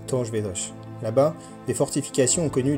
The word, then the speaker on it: Torres Vedras: En portugais ça se prononce Tor Vedrch.